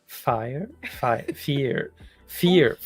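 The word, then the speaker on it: vier: V is pronounced F. Fire. Fear.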